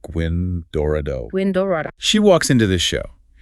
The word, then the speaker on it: Gwyn Dorado: So now we have Gwyn Dorado, and that's pronounced Gwyn Dorado.